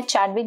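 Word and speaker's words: Chadwick: तो जो ये एक्सपेरिमेंट था ये किया गया था, ये डिस्कवरी की गई थी बाय जेम्स शैडविक, तो कई लोग इसको प्रोनाउंस करते हैं, चैडविक भी प्रोनाउंस करते हैं, 1932 में।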